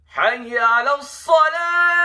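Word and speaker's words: حي على الصلاة: You can just, at least you know the difference between alif and ain.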